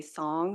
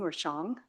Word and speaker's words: Xiong: And then my last name is pronounced Xiong, but I know it's a little harder to pronounce, so you can say Song or Xiong. So I answer to either one.